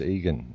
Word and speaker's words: Igan: It's Egan. It's spelt Igan, but it's pronounced Egan.